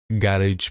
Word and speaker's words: garage: गैरेज पे, ठीक है? गैरेज पे आया, गराज पे आया, ठीक है? प्रोनाउंसिएशन अपना अपना होता है भाई, गैरेज, गराज।